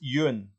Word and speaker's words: Ewan: It happened to be after the live stream last week that Lindsay kindly said that it's Ewan.